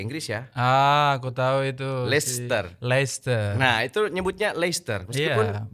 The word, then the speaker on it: Leicester: Leicester. Nah itu nyebutnya Leicester, meskipun bukan tulisannya Leicester.